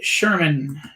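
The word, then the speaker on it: Schurman: artist his name is Brett uh Sherman it's pronounced Sherman it's spelled s c hu r m an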